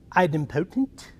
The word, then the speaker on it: idempotent: There's one that was like, you could say I'd impotent or idempotent.